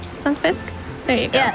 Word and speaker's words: Stunfisk: I would say his name wrong. Stunfisk? There you go. Yeah, Stunfisk, yeah.